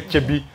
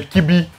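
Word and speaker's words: Kyebi: They'll hear Chibi, they'll say Kibi.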